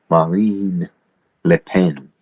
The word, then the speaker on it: Marine Le Pen: I listened to the uh pronunciation. Marin Le Pen is imprisoned in France to keep her from winning an election.